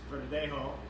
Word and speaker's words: Verdejo: There's a Spanish grape, it's Verdejo, with a J.